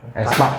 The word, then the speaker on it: aespa: Ini bacanya gimana sih? Espa. Aespa. Diambil dari itu kan sebenarnya A, E-nya itu nyambung gitu kan, huruf yang nyambung. Huruf yang nyambung itu gini, AE balikan gitu. Balikan, saling berhadapan. Espa. Aespa, bacanya Aespa.